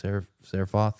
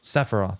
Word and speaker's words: Sephiroth: hell his name is, Seraphoth or whatever his name is, Sephiroth. That's how you say it.